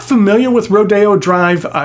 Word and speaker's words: Rodeo: things in Southern California Rodeo Drive uses the Spanish pronunciation so it's rodeo not rodeo after all it used